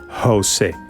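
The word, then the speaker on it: José: the English age in Jose Jose but I'm going to give you a tip right here that's the easy pronunciation Jose the real pronunciation is like you are going to make a cat sound like that's the real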